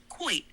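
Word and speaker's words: quoits: The game Lewis is referring to is called Koi, pronounced quite.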